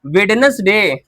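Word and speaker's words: Wednesday: अब इसको पढ़ो तो वेडनेसडे वेडनेसडे डी नहीं पढ़ते हैं।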